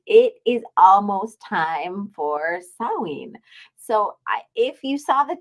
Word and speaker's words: Samhain: so that means it is almost time for sawing so if you saw the title that s